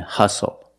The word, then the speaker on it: hustle: We also see the silent T when you have the spelling pattern S-T-L-E. Like these words: whistle, castle, and hustle. The T is silent with the spelling pattern S-T-L-E. Example: this is a castle.